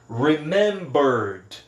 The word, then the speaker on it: remembered: Ele termina com a letra R. Aí eu colocando o ED vai ficar só D. Remembered, remembered, remembered, ok?